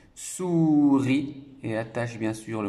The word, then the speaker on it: souris: à illies à petit est ce qui est une lettre muet souris et attache bien sûr